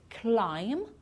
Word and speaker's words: climb: some of these words climb we don't pronounce the b at the end crum lam and num